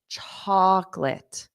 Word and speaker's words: chocolate: to me say his chocolate do you notice anything chocolate what about this middle o did you hear it chocolate so it sounded like two sounds cholate chocolate chocolate